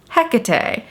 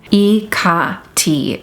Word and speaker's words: Hekate: some of you guys are like, Hekate, it's pronounced Hekate. It's pronounced Hekate. And to all of you I would say, yes, you are right. There are many different ways to pronounce her name. Hekate is the closest that we can get to